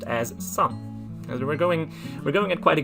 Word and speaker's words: 三: It doesn't really matter too much, but 3 is pronounced as san.